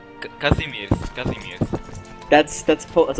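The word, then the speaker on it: Kazimierz: name Che he's my air how do you pronounce his name what the is that kind of name kazimir kazimir that's that's po that's a Polish name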